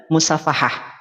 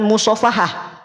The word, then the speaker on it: musyafahah: apa Biar bisa talaqi dan musyafahah bukan mushaofahah beda mushaofahah mah salam-salaman musyafahah mah guru menyimak